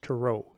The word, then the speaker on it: tarot: A lot of people think it's tarot cards. It's tarot is actually how you say it.